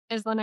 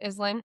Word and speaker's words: Islan: So in my mind, it's Eastland, but I do not care.